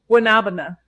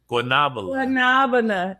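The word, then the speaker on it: guanábana: And I believe it's pronounced graviola. Guanabana.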